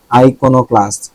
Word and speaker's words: iconoclast: আইকোনোক্লাস্ট বা বিপ্লবী বুঝায় মনে হয়, প্রথা ভঙ্গকারী যেহেতু অবভিয়াসলি বিপ্লবী হবে, এটা কিন্তু ইম্পর্টেন্ট রিসেন্ট টাইমে।